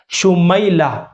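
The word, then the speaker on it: شمیلہ: का नाम है लेकिन इसका दुरुस्त तलफ्फुज जो है वो कुछ इस तरह से है आप स्क्रीन के ऊपर भी देख सकते हैं शीन है मीम है या है लाम है और आखिर में हा साकिन है शुमैला मीम या जबर मई के साथ है सुमैला य एक सहाबियत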